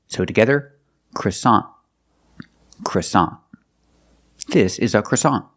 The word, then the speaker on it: croissant: that's French in English American English we say croissant croissant the first vowel is a short sound uh CR CR CR CR CR CR CR the second syllable is a like hot and stop so together CA croissant croissant is the American pronunciation of this word we see with the NT at the end the t is a stop T we don't say croissant we put the tongue up and stop the air for that t